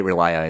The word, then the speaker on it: Relier: Yeah, it's spelled Relier, but they say Relia in the movie.